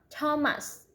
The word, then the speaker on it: Thomas: Although the next and pairs with TH, they are pronounced as the normal T, like that. It was Thomas, Thompson, Teresa, Thailand, Thames, River, Esther, time, spike, time.